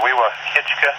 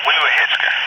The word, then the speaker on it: Weewahitchka: You're on Weewahitchka. Okay, yeah, I was saying it wrong. Weewahitchka.